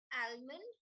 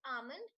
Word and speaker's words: almond: the third word as almond which is wrong the l in that word is silent so it's almond not almond or almond none of